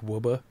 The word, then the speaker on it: Woburn: It's well, there's the one that's like Woburn, but it's like Wubba.